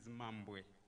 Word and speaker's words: Mambwe: The correct pronunciation of my surname is Mambwe, Mambwe.